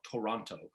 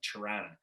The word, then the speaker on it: Toronto: from other areas in canada will call it toronto uh but anybody from the city pronounces it like c-h-u-r-a-n-a kind of thing it's like chiranna uh and it's just because you say it